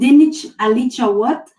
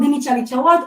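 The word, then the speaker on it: dinich alicha wot: I couldn't pronounce it. Okay, I will say it. So it's called dinich alicha what?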